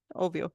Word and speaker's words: Ovyo: Ovyo, right?